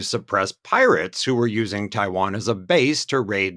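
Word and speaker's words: Tayouan: just read it in English it would be T Yo Yen but apparently um this indigenous place name they the indigenous people pronounced it Taiwan and that's uh from what we get the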